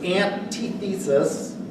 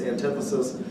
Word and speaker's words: antithesis: well first of all he pronounced this thesis aunt T thesis it's not an ting these it's antithesis he also told us